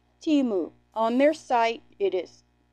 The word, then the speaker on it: Temu: and it is pronounced timu on their site it is I have it on my community tab the little clip from their site and it's t-e-e-m-o-o is how they want to pronounce it I've Heard lots of